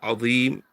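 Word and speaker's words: عظيم: So you're pronouncing this from the top of the tongue and the inner edges of the upper front teeth, the dha. But many people are not pronouncing it from there, and they're pronouncing it as they would pronounce Z. So they're pronouncing the za and the dha in the same way.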